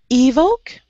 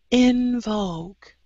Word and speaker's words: invoke: Evoke. Invoke. In. Oh. Yeah, I think you were thinking of evoke. So you have E and then your short I sound.